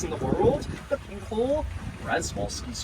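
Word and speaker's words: Przewalski: The only non-domemesticated horse in the world, the pinkole, Resvolski's horse, or Shabolski's horse if you go by the proper Russian pronunciation.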